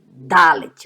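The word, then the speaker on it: דלת: Agora perceba como eu pronuncio Dalet, ó. Dá. Um D duro.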